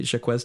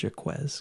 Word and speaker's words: Jacques: French musical directed by Jacques Demy Shaw also called your quiz because that's how it's spelled it's Jacques this is directed by